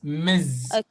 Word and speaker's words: Ms: and ms this m s spelled like or pronounced like not miss miz okay okay so let's start yes projector the